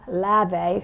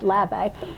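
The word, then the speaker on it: Levi: She was born Paulina Lave, it's spelled L-E-V-I, but I use Google pronunciation too, I hope that's right, Lave in German.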